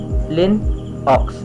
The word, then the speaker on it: Linux: or macs so lastly the linux so linux pronounced lin ox is a family of open source operating systems